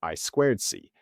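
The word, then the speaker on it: I²C: Well, in English, that's actually pronounced I squared C.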